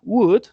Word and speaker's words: would: Lo podemos encontrar de su forma larga, would, se pronuncia solo con 3 fonemas, W, U y D, would, nunca se pronuncia la L en esa palabra, ¿sí?